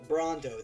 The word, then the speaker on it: Brando: the male piplup brando brondo that is how you pronounce it looks like brando but we are pronouncing this brondo bronto bronto rondo is